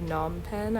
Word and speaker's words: Phnom Penh: look at Cambodia and of n pen I believe is how you pronounce it and then I quickly